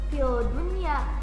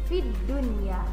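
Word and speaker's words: في الدنيا: Nah, ketika fi dibaca tidak perlu dibaca juga lamnya, jadi membacanya bukan fil dunya, tidak ya, tapi fid dunya ya, langsung masuk ke huruf dal.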